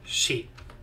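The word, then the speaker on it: し: You pronounce this as she.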